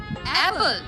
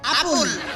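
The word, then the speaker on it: apple: অ্যাপল, নো নো নো নো, আসল উচ্চারণ করো দেখি। অ্যাপল, নো নো নো নো, এইভাবে হয় আপুল। আস্তে, আপুল আপুল। হ্যাঁ, আপুল, হইতেছে। আবার ট্রাই করো।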